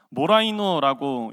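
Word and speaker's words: μωραίνω: 본문에서 사용한 사용되고 있는이 맛없는이라는 헬라어 단어를 잠깐 살펴보면요 모라이노라고 읽을 수 있는데 이것은 맛없는이라는 뜻도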